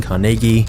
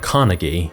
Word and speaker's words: Carnegie: Andrew Carnegie was born in Scotland, which is the reason I'm saying Carnegie instead of Carnegie, because this is how the Scots actually pronounce it.